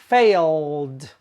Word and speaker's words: failed: Fail ends with the ooh sound. So the past tense is pronounced failed.